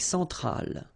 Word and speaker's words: Centrale: L'Amérique centrale. Same thing here. Centrale, remember, E-N, nasal, so it goes in your nose.